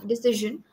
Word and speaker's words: decision: of a sound in decision but um if it's hard to pronounce first you can try pronouncing it this way and then slowly add the z sound in it but this is step